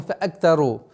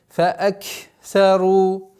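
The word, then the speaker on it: فأكثروا: Если звук каф до конца не произносится с сукуном, фаак, она проглатывается, съедается, и поэтому фаактару. И поэтому нужно договорить фааксару.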